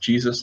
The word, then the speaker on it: Jesus: Also, it's pronounced Jesus like the Bible.